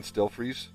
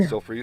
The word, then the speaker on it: Stelfreeze: Anyway, but that's how I pronounce it. STEL freeze, as in like freeze.